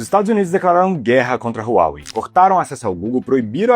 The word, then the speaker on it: Huawei: Eu falo no vídeo inteiro Huawei, mas o certo lá na China é Huawei. Mas eu falei Huawei porque é a forma como a gente pronuncia aqui no Brasil, mas o certo é Huawei.